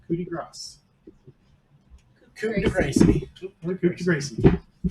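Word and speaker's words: coup de grâce: So I And get apparently, the appropriate pronunciation is coup de grace.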